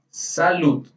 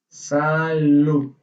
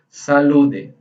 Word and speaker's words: salud: Em português, a gente também deseja a saúde para a pessoa, só que você deseja assim, salud. Salud. Aquela pronúncia do D. Salud. Não é salude.